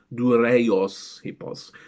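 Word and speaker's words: δούρειος ἵππος: The wooden horse is written Durios Ipos, rather than the classical pronunciation Dureios Ipos.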